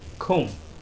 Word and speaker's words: comb: last word here is comb or calm the letter B is silent here because in most of the cases be fazed after letter